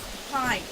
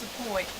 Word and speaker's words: Point: Around here, the colloquialism, the way they pronounce it is the pint. And in Bladen County, that is not known as the point.